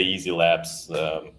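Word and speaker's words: YZi Labs: Yeah, so I would say Easy Labs. That's how you pronounce YZ.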